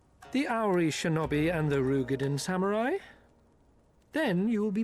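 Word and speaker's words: Roegadyn: The Ary Shinobi and the Rugadin samurai. Then you will be pleased to know that they have both come to Kugani. Wait, that's how you pronounce Rugadin? I thought it was Roden.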